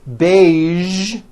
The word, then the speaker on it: beige: television very good now there are only a few words that have the voiced z sound at the end a few of these words are the color beige the word massage and the word Prestige okay now that you